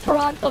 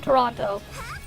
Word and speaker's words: Toronto: name of the city if they pronounce the second T in there that's how you know anyways uh they were